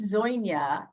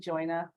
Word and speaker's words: Dzujna: Dzujna? It was Dzujna when my grandparents came over, and I got a little. So now we pronounce it Dzujna.